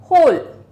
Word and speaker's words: whole: होल, WHOLE, होल, WHOLE, होल। होल मतलब पूरा, WHOLE मतलब होल, होल वर्ल्ड, होल school. ठीक है, WHOLE, होल। W साइलेंट है, ठीक है, W साइलेंट है।